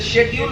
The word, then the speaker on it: schedule: लेकिन इसी SCHEDULE जब हम बोलते हैं तो उसे शेड्यूल बोलते हैं। अब ये CH श कैसे हो गया पता नहीं।